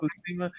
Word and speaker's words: Buscema: Am I saying that right? Buscema. Yep. Buscema. Ink by Fredo Alcala, Tony DeZuniga.